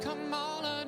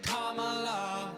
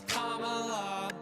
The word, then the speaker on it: Kamala: It's not Kamala, no, her name is Kamala. Duh. Emphasize the first syllable, it's Kamala.